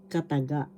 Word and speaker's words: kataga: And particles, or particle singular, kataga. First syllable ka, second syllable ta, third syllable ga. Kataga. The accent is in the third syllable, kataga.